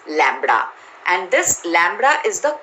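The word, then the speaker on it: λ: the length right and the inverted y is pronounced as lambda and this lambda is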